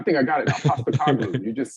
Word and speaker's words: Postecoglou: I kind of hope Spurs hire Postecoglou just so I have to see you pronounce his name every week. I think I got it now. Postecoglou.